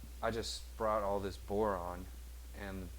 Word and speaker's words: boron: So here's boron. You know, of course, rhymes with moron.